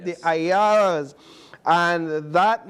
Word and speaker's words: Ayalas: I pronounced that correct, right? The Ayalas.